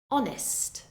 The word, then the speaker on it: honest: how the H is completely silent hour hour honest honest ghost ghost and now a couple of